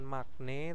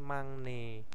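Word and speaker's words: 막내: sini ilbon ya magne Nah ini magne BAC bukan magne tapi mangne ya terus m ee mognen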